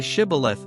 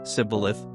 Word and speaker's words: Shibboleth: If he replied, "No," they said, "All right, say Shibboleth." If he said, "Sibboleth," because he could not pronounce the word correctly, they seized him and killed him at the fords of the Jordan.